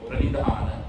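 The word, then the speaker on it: praṇidhāna: That is panidhana in Pali or pranidhana in Sanskrit.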